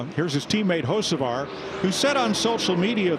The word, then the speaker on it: Hocevar: HERE IS HIS TEAMMATE, HOCEVAR, WHO SET ON SOCIAL MEDIA THIS WEEK, THERE IS A B AT THE BEGINNING OF HOCEVAR. HOCEVAR. HOCEVAR. THEY DROPPED IT BECAUSE THE B IS SILENT.